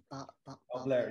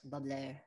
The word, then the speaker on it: Balblair: Balblair, yes. Balblair. Generally with the Gaelic, the accent is on the second syllable.